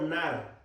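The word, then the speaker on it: na'ar: fíjense la palabra niño viene del hebreo nar así como suena con acento en la primera con en la primera con doble a nar en el hebreo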